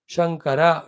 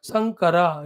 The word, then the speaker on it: Shankara: Shankara, it is Lord Shiva. Sankara, it is cross breeding.